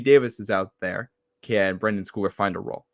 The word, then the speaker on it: Brendan Schooler: Because like last week we saw Brendan Schooler, is that how you say it?